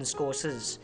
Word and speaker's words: Scorsese: He's like Michael Moore, but in another way, Scorsese, because he can capture remarkable shots in the way that Martin Scorsese... It's actually pronounced Martin Scorsese.